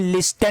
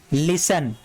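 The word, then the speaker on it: listen: यहाँ पे देखिए ये टी वर्ड साइलेंट है, इसको हम पढ़ते हैं लिस्टन नहीं, इसको पढ़ते हैं लिशन। क्या पढ़ते हैं, लिसन।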